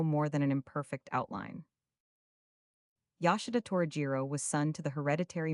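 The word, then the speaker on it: Yoshida Torajiro: The name you are to pronounce with an equality of accent on the different syllables, almost as in French, the vowels as in Italian, but the consonants in the English manner except the J, which has the French sound, or, as it has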